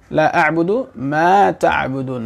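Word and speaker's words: أَعْبُدُ: আমরা আয়াতটা পড়তে পারি লা আ'বুদু মা তা'বুদুন লা আ'বুদু অনেকে পড়ে আ'বুদু আ'বুদু আ'বুদু মা আ'বুদু মা এইভাবে পড়া ই হবে না মানে এটা শুদ্ধ হবে না উচ্চারণের স্থান উচ্চারণ স্থান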